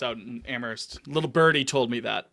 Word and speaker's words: Amherst: First of all, you don't pronounce the H.